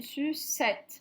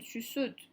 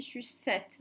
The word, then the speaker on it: sucette: E, double consonne E, le premier E se prononce est. Donc ici, une sucette. On ne dit pas une suceute. Hein. On sait qu'on dit sucette.